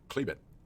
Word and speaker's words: Chalybeate: above a depth of 8 800 feet the cleebit prospect pronounced clebit derived from the greek word for iron ridge